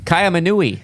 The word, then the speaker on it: Kaiaimunu: Kaiaimunu.